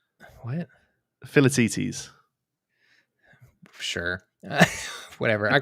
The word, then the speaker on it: Philoctetes: It's a silent C. What? Philoctetes.